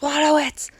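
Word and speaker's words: Wojtowicz: 2014, was this about John Waterwitz, I think his name is pronounced. Okay. He actually shouted at someone and said, "It's pronounced Waterwitz," and I was like, "Whoa!"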